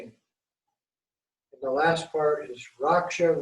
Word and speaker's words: Raksha: And the last part is Raksha, Raksha, Soha. It also is pronounced Rakya, Rakya, Soha.